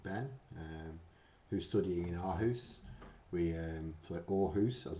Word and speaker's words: Aarhus: Aarhus, as it's pronounced.